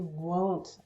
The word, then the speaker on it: won't: They won't leave. So will not is also a bit unusual because it changes from will not to won't. Yeah, it becomes the long O, N apostrophe T.